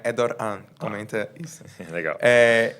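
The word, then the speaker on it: Erdoğan: porque tem uma palav erdogan é todo mundo fala erdogan porque é uma palavrinha que parece um G Mas é uma palavra que tem uma letra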